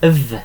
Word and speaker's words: fi: So V is me, okay, and it's literally like that. Hope that helps. There we are. So the F is a V sound, okay, is the V sound.